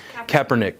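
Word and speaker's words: Kaepernick: hubbub in the news right now because of Kopernik did I say his name correctly Kapernick yeah him and then he's being endorsed by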